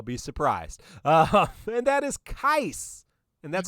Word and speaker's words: Keiss: And that is Keiss. And that's how you pronounce it, Keiss, from Final Fantasy, The Crystal Chronicles, which is what we have our podcast named after.